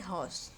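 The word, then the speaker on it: hoarse: On that day यानी कि उस दिन भी, ही क्राइड हॉस, यहाँ पे ये हो गया, यहाँ पर भी आर साइलेंट होता है, यानी कि उसने ज़ोर से चिल्लाया।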